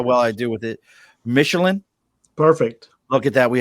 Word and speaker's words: Michelen: we're missing how well I deal with it Michelin perfect okay get that we have Oscar Mission Jeff I've butchered his last name so many times he